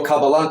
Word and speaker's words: Kabbalah: the incorrect pronunciation well kabbalah kabal are both correct okay uh uh there's